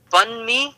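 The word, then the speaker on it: bánh mì: balmy sandwich? Well, Is that like a little moist? How do you say it? Banh mi? You say bun mi, like a bun, and then me.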